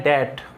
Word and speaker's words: debt: इसका मतलब क्या हो गया, वन who can't pay one's debt, DEBT, इसका प्रोनाउंसिएशन ध्यान रखना, ये कई बार पूछा गया है। DET का प्रोनाउंसिएशन होता है डेट, यदि ट्रांसक्राइब करना जानते हो तो ये डेट यानी कर्ज।